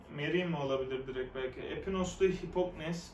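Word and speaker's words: Mérimée: İki Kayın Havarisi, Aristoteles, Atinalıların Devleti, Prosper Merime, Carmen. Merime diye okunduğunda Merim. Merim olabilir direkt belki.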